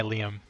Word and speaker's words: Liam: But more importantly, it can be pronounced Liam if you're not familiar with the pronunciation.